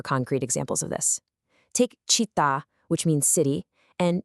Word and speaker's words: città: Because the ends were abruptly truncated, the accent now rests heavily and permanently on that final vowel.